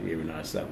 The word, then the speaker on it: Renard Safo: Is that how you pronounce it? Yeah, Renard Safo, yes.